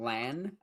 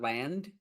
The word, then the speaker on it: Land: I do always make the mistake of calling him Lan, Lan, instead of Land. And I don't know why, because Land Raider sounds better than Land Raider. Like, hard pronouncing the D.